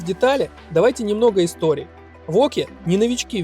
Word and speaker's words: Wauquiez: Да, название не самое простое, читается воки.